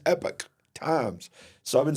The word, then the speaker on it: Epoch Times: it's not called the epoch times it's called the epic epic times it's pronounced almost like epic but it's Epic Times so I've been saying